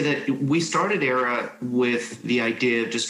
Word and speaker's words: Aiera: And I think that, you know, as we started with Aiera, and I, you know, starts kind of the AI equity research analysis, the AI is silent, because I think that with it, within Aiera, you know, we're really